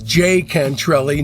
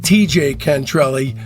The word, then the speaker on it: Jay Cantrelli: Also, just a quick note, When I interviewed Johnny Echols, I realized that the proper way to pronounce his name was Jay Cantrelli, not TJ Cantrelli.